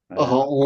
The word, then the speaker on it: أعوذ: Ya, bacanya a, huruf tipis, maka kita bacanya a. A bukan e. O tidak. Bacanya a.